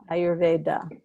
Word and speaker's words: Ayurveda: say Vat and Pit, rather than Vata, Pitta, Ayurveda.